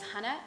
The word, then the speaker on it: Hannah: Um, so yeah, my name is Hannah. Um, I, as you can hear, I'm pronouncing it slightly differently because I'm from the UK.